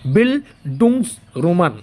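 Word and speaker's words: Bildungsroman: বিলডুং রোমান উচ্চারণটা হবে।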